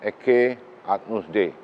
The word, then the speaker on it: Ecce Agnus Dei: And below this marble, the altar, you see the wordings there, is pronounced as Ecce Agnus Dei.